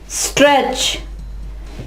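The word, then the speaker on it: stretch: यहां पे देखें T के बाद सब में एंड पे CH आ रहा है तो इस CH की वजह से T आवाज नहीं देगा, स्ट्रेच, ठीक है। यहां पे T जो है वो साइलेंट होगा इनमें, ठीक है।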